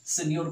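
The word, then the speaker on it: signor: साइनर, इसको सेन्योर भी पढ़ा जाता है, वैसे सेन्योर ही करेक्ट होता है प्रोनाउंसिएशन, सेन्योर, ठीक है, सेन्योर रीड करिएगा।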